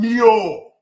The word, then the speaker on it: Neo: like that, my man Neo. 2 syllables. Neo. You know? Neo. Yeah. Okay, Yeah. What part of your leg hurt? Me knee. Yo. So Neo, for the English speakers, there you go.